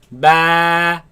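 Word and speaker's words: ب: alif alif next slide has a dot on the bottom let's pronounce it baa okay now this letter of course comes from the lips do not suck the lips in ba ba no keep the lips normal alif alif alif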